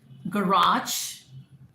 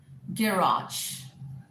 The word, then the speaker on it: garage: Garage, garage, garage, garage, garage, garage. Now, all three are the accepted forms.